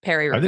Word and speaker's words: Paris-Roubaix: Paris-Roubaix.